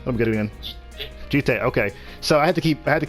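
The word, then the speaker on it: jitte: Jite, okay. So I had to keep getting the pronunciation app on my phone so I can pronounce this word correctly because this word is confusing me.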